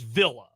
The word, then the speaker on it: Villa: Trenton, you got the official pronunciation for Dan Altavilla. It is Villa.